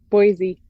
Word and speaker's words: Boise: musical by dumont was the the boys from boise am i pronouncing that correctly yeah boise uh from all accounts it was quite extravagant